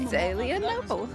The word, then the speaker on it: Zelienople: Because the word is Zelienople. How would you pronounce that? Zelenople. Zelenople? Zelenople? You got it. All right. Zelenople.